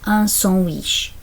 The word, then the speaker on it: sandwich: Looks the same as English, said differently, pronounced un sandwich.